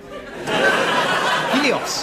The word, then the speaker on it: Helios: Helios. Oh, am I pronouncing that right? Yes, that's it. And you're the god of what?